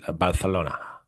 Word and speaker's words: Barcelona: Next year they're going to start on in Barcelona, Okay. Okay. or if you're using Castilian, Barcelona, That's right. I There believe you go. is the So, correct pronunciation, depending on where you're from.